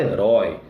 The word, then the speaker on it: herói: Herói, você não fala herói, você fala herói, né? E por aí vai, tá bom? Então, por isso é aberto. A maneira como se pronuncia, o timbre é aberto, tá legal?